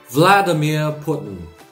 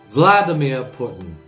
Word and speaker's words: Vladimir Putin: 러시아 발음과는 상관없이 영어식 발음은 이렇습니다. Vladimir Putin. Vladimir Putin.